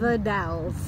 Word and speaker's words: The Dalles: The Dalles.